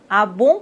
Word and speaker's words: ah bon: Abon, on doit pas prononcer le N complètement. On dit pas bonne." Ah bon ? Ah bon ?